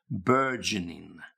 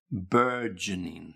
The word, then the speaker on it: burgeoning: Burgeoning, burgeoning. Now make sure you've got the g sound burgeoning. Yeah. Okay. So it's like, again, the word urge, got a g.